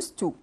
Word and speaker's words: used to: لو انا قلت used to طبعا الدي ما بتنطقش، انا بقول used to used to.